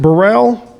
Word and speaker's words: Burrell: 1967, Ty, is it Burrell?